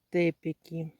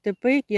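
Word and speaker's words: Teppeki: показати Дивіться це називається тепки тепки кажуть тепеки але в польській мові здається наголос на перший склад так От дивіться це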